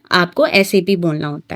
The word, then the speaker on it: SAP: सैप सैप नहीं होता। यह क्या होता है? एसएपी system application and product in data processing particular saa डॉटp इस तरह से ये प्रोनाउंस किया जाता है।